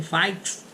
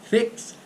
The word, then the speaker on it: fix: Você tem o verbo mix, que é misturar, fix, que é consertar, ninguém vai falar mix nem fikes, é mix, fix, drip, tá certo?